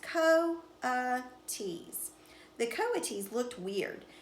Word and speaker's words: coatis: pigs or raccoony dogs these are coatis mrs. Brisbane said reading from the letter pronounced Co T's the Cova cheese looked